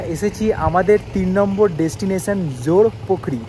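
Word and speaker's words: জোরপোখরি: এখন আমরা এগিয়ে চললাম জোরপখরির উদ্দেশ্যে এখন আমরা এসেছি আমাদের তিন নম্বর ডেস্টিনেশন জোর পোখরি যেটাকে বলে জোরপখরি বা জোর পোখরি যেটা ওরা উচ্চারণ করে আর এখানে কিন্তু টিকিট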